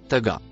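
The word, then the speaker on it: طغى: Le mot en vert se prononce taga.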